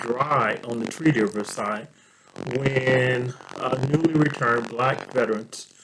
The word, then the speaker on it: Versailles: as the treaty of versailles and versailles is pronounced versailles in kentucky tree riverside is uh will